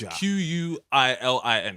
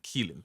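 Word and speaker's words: Qilin: Because it's Quilin, Keelin, yeah?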